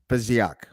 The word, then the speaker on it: Fesiak: So without further ado, I would like to welcome to the show Alex Fesiak. Is that right? That's right. I did it. Yeah. I did the pronunciation correctly.